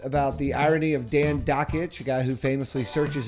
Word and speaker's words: Dakich: ESPN broadcaster Dan Dakich, it rhymes with Jockich, had this to say about 18-year-old Duke freshman and presumed ACC Player of the Year Marvin Bagley III.